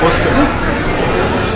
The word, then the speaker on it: Poskem: It's called Poskem. Well, it's Poskem, but Poske is the pronunciation, and it's his third book.